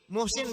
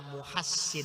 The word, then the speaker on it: Muhsin: apa musim-musim bin Ali Muhsin bin Ali kurang tepat yang betul harokatnya adalah Muksin hai tuh cara bacanya